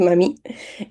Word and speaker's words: mamie: dice mami, la mami, con acento en la I, eso sí, no mami, sino que es mami, es la abuelita.